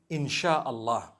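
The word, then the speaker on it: InsyaAllah: They pronounce the S-Y the way we pronounce S-H. So they can write it how they want, for as long as when people read it, they read it InshaAllah.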